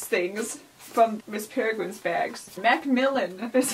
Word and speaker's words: Macmillan: Macmillan is how you say it.